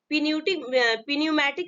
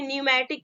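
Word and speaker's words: pneumatic: वो आपका क्या है, इसको हम पिन्यूमेटिक नहीं पढ़ेंगे, इसको क्या पढ़ेंगे, न्यूमेटिक पढ़ेंगे। ठीक है, बहुत लोग क्या पढ़ते हैं, पिन्यूमेटिक, तो इसको करेक्ट प्रोनाउंसिएशन होगा आपका न्यूमेटिक।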